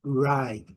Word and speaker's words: ride: Ride, bem longo. Letra E não pronunciada.